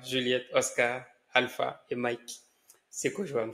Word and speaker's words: Sekojoam: Sekojoam, ça se prononce comme ça.